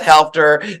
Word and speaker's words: Helfter: I'm like Helfter. There is an I L. know. There is an L.